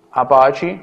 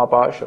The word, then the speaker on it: Apache: Linux come sistema operativo, Apache o Apache, a seconda della pronuncia, come web server, MySQL come database e PHP come linguaggio.